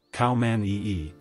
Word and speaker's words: Khao Manee: The pure white khaomanee, pronounced khaomanee, is also known as the diamond eye cat